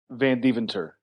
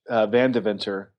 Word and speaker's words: Vandeventer: He pronounces it Vandeventer. I say Vandeventer, but actually, if you go back to Holland, which is where we're from, they say Vandeventer. Nice. So we're both wrong. I say Vandeventer, but it's a family tradition of pronouncing it wrong.